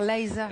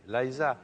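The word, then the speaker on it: Liza: Minelli j'aurais dû dire Laisa. Et oui, Laisa. Ouais, comme quoi l'accent ça compte.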